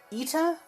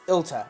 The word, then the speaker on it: Ilta: It was Ita or Elita or something like that. It's Ilta. It's Ilta.